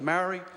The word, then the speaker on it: Māori: Mr Speaker, with respect, next week is Māori Language Week, and my ear's a little bit sore with Māori. I'd ask the member to pronounce it properly as Māori.